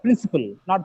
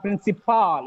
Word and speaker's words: principle: Principle, not principal. It is principle. Okay. Gesture. Most of the times we pronounce it as gesture.